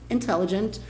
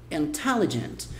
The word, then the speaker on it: intelligent: E a pronúncia é intelligent. Então, enquanto pra gente o forte tá aqui, inteligente, em inglês o forte tá aqui.